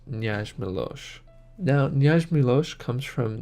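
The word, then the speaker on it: Knjaz Miloš: Now please let me know if I'm pronouncing that wrong, but from what I've found online it is pronounced Knjaz Milos.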